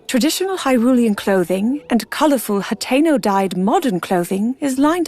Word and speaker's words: Hateno: Also, she said Hatenno Hateno. I guess I'm pronouncing Hatenno wrong the entire time, too.